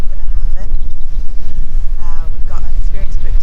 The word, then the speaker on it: Bunnahabhain: The BH is pronounced B, so it's Bunnahabhain.